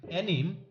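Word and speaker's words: anime: এনিমে enemy অ্যানিম এনিমে যে যে নামে বলুক না কেন এর সঠিক উচ্চারণ অ্যানিমে আজকের ভিডিওতে আমি আপনাদের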